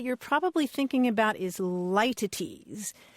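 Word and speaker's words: litotes: the word that you're probably thinking about is lities it's pronounced a bunch of different ways but it's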